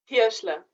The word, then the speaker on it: Hirschler: Hirschler.